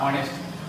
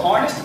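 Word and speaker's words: honest: जैसे हमने कहा ऑनेस्ट, क्या कहा, ऑनेस्ट। अच्छा कुछ लोग इसको हॉनेस्ट पढ़ते होंगे।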